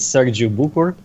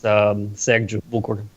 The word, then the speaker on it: Sergiu Bucur: That's not the Romanian pronunciation of it, but it's as good as you'll get in English. So that's decent enough. What is like the true pronunciation? If there's like a more complicated version, it's Sergiu Bucur.